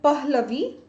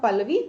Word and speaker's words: Pahlavi: A language called Pahlavi, right? Sometimes some pronounce it as H is silent, but pronunciation might be different, right?